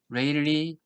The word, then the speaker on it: Rayleigh: 3.1의 3절 레일리 리츠 방법입니다 레일리 리즈 방법 각각 사람의 이름을 땄는데요 어떤 사람은 일이라고도 부르고 그 사람이 자기 자신을 어떻게 부르는지 잘 모르겠지만은 영어식 발음은 레일리 같습니다 레일리 리츠 메드 리즈라